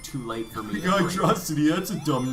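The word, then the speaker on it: Hydrocity: Reef Zone and then I I know I pronounce it weird but hydrosity oh no it's Hydro City because it's a hydro City yeah I I know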